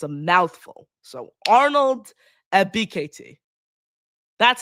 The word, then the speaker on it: Ebiketie: So Arnold Ebiketie. That's how you pronounce his name.